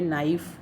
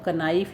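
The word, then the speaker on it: knife: के बाद एन है, तो के साइलेंट हो गया। तो यहाँ पे इसको नाइफ और नोन पढ़ा जाएगा, इसको कनाइफ या कनोन नहीं पढ़ा जाता।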